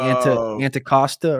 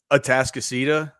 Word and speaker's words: Atascocita: I can't pronounce the school, but it was like Anticosta or something. Oh, Atascocita.